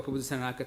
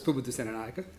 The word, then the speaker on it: Pubudu Senanayake: Pubudu Senanayake. Almost. Almost. I will pronounce my name so that you guys are aware. So, kia ora kato, ko Pubudu Senanayake to koingoa. So it's Pubudu Senanayake.